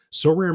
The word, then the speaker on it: Sorare: Now, unlike other fantasy baseball platforms, So Rare managers truly own their fantasy experience, collecting, buying, selling, and competing with player cards against global opponents to win epic rewards.